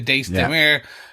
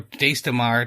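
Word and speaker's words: Daes Dae'mar: They talk about the Dace Demir or Dace Demar, depending on your pronunciation.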